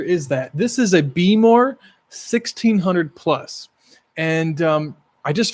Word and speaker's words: Behmor: It's spelled BEHMOR. Beemore 1600 Plus.